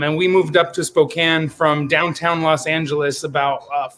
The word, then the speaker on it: Spokane: weed Bakery in pookan I always say Spokane because I always pronounce things phonetically but a Spokane right Spokane Washington yep Spokane Washington so how